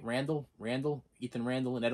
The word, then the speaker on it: Randall: right yeah can't hardly wait uh ethan ethan randle am i saying that right randall randall ethan randall and ed o'neill ethan something